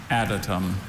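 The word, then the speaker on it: adytum: Adatum. Adm. Uh are there any alternative pronunciations?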